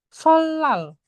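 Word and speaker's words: 설날: keso hangkuk saram deran solal rial ketemu ni niennya jadi real Solal.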